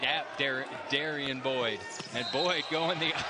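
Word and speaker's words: Derrin: You'd think that's Darren, yeah, right? You nope, would. Nope, but he pronounces it Darian.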